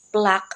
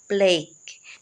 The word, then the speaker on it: plaque: na nakagawa ng maganda so still plock ang pagpronounce May narinig kasi ako na ginamit or binasa ito or um ang pagpronounce nila sa word na yan ay plake no Hindi po siya PL kund it is PL Maraming salamat mga palangga